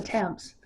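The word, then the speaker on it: Thames: England t h Mes in England that's the Tams now it could be the tames in Connecticut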